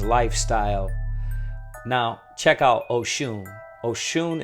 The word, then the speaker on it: Oshun: Oshun is spelled Osun and Orisha deity.